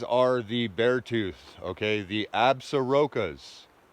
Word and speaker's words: Absaroka: The Absarokas. That's how you say it, Absaroka, beartooth wilderness, in the Custer-Gallatin National Forest.